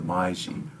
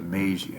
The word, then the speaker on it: Meiji: And when he came to power, his nickname was the Meiji, or the Meiji actually is the way you pronounce it, which means the enlightened one.